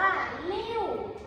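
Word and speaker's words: 六: 6 6 ชิ้น อ่ะ ภาษา จีน อ่าน ว่า ลิ่ว อ่ะ ลิ่ว ิว ลิ่ว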